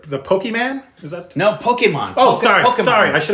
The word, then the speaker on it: Pokémon: my homework okay pokemon pokemons are the actual the people say pokey and they get a kind of e pokemon yeah that's actually how it's the actual pronunciation pokemon pokemon yeah come on